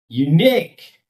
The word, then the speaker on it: unique: We cannot say all the syllables equally well. Employee. Employee. Employee. Engineer. engineer, engineer, millionaire, millionaire, unique, unique.